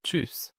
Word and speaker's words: tschüss: أو tschüss tschüss أو tschüss، دي ت وبعدها اس سي ها نطق شين.